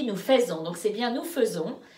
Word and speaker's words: faisons: Hein, alors, en plus, tu n'as pas dit nous faisons, donc c'est bien nous faisons.